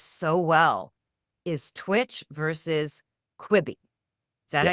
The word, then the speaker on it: Quibi: And one of the stories that you tell that I think explains this so well is Twitch versus Quibi.